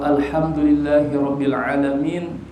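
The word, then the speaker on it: الحمد لله رب العالمين: Jadi kayak Alhamdulillahirabbil alamin surah Al-Fatihah. Jadi banyakkan orang bacanya alham malah pakai ha, bukan pakai ha.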